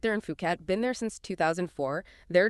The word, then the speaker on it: Phuket: And just a quick note for anyone unfamiliar, it's pronounced Phuket. Yeah, Phuket, not Fuket.